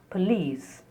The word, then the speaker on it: police: Here the letter O in spelling is spoken as a. Police, because the stress is on the second syllable, E.